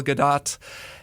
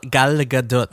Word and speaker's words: Gadot: This is Warner Brothers, directed by Patty Jenkins, starring Gal Gadot and Gal Gadot. I know you say the T. Yeah. That is the most like Indiana way of pronouncing an Israeli name.